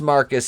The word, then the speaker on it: Marquis: vagina and then marcus marquis pronounced marcus spelled marquis because he's stupid shows